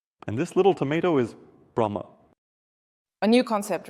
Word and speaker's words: Brahma: But we also call him Brahma. But in pronunciation, the H is not pronounced.